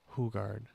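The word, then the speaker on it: Hougaard: listening to Tom ho hugard hogard hugard he pronounces it hugard Tom hugard yep like hille yep hugard um and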